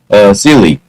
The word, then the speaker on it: Seeley: For April Fool's Day in 1980, Boston TV news producer Homer Seeley, he actually rhymes with silly, produced a television broadcast about a hill in Milton, Massachusetts, that had begun oozing lava and spewing flames.